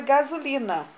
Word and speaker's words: gasolina: E a palavra gasolina. Gasolina. Também tem som de Z e se escreve com S. Está entre uma vogal e a outra.